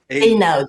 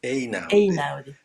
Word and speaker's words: Einaudi: it was Natalia's husband, Leone Ginzburg, who founded the, I know, how do you pronounce? I'm always a bit insecure with Einaudi. Einaudi. Einaudi.